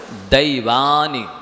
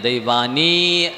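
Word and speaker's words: दैवानि: नारक तैर यज्ञोन, नारक तैर यज्ञोन मानुष दैवानी, देवानी नहीं बोलना, और बड़ी ई भी नहीं है, दैवानी ऐसा भी नहीं बोलना, दैवानी ऐसे उच्चारण शुद्ध करिए।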